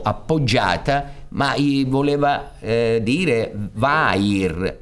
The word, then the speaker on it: vair: Lui aveva detto verre, forse la R era un po' troppo appoggiata, ma gli voleva dire vair, che si pronuncia verre, ma significa cuoio.